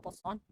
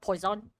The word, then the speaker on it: Poisson: Yeah, it's actually Poisson. Not Poison. Poisson. Like, the I is silent, so it's just like Poisson.